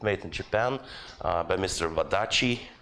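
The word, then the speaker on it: Wadati: Wadachi. That's how you pronounce the TI.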